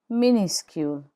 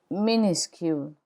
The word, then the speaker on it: minuscule: Minuscule. The final S is not pronounced in minuscule.